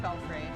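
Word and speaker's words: belfry: it should be pron that way belfrey or belf fry I mean I know it's pronounced belfrey English is stupid I mean English is also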